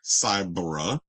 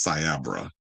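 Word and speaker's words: Cyabra: that conducted the report, Cyber, um I think it was, but he's saying it wrong. He said Cyber. is Siabra.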